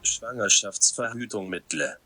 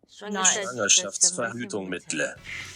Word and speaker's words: Schwangerschaftsverhütungsmittel: So, but first, here is the true pronunciation. You can put your headphones on. Schwangerschaftsverhütungsmittel. Schwangerschaftsverhütungsmittel. Schwangerschaftsverhütungsmittel. There you go. Sounds like he says Bette Midler.